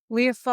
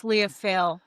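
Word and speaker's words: Lia Fáil: Leophal. L-I... Yes. It's Leophal or it's Leophale. They pronounce it both ways.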